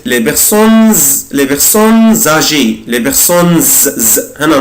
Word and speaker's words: les personnes âgées: خدوا بالكم أنا هنا نطقت الاس زد les personnes âgées les personnes هنا نطقت الاس زد.